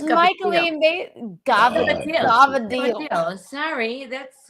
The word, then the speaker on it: Cavatelli: Cavatelli is not what? Gavadil. Gavadil is how you say Cavatelli.